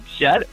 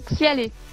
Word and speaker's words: XyaLe: y es attaché, c'est Xial ou Xialé qu'on dit? C'est Xialé. Donc en fait, D'accord, ça se d'accord. prononce K-A-L. Donc Xialé. Et à la fin, c'est un E.